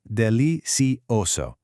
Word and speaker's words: delicioso: Notice the soft C pronunciation in delicioso. It sounds just like an S. Está delicioso.